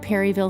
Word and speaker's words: Perryville: She's the Executive Director of Main Street Perryville, or as the locals say, Perryville.